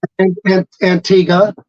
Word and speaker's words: Antigua: in an Antigua uh antig how do you say it Antiga Antiga okay yeah um y when